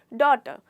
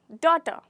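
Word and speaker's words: daughter: यहाँ पे हमारा लेटर जी जो कि है वो साइलेंट होता है और हम इसे प्रोनाउंस करते हैं डॉ ट, डॉ ट, ना कि जी का बिल्कुल भी प्रोनाउंसिएशन नहीं होता, वो पूरी तरीके से साइलेंट है। इसलिए आपको इसे कैसे प्रोनाउंस करना है? डॉ ट, डॉटर।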